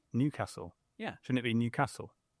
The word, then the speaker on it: Newcastle: just wrong no this the stress is on the first Newcastle it's not Newcastle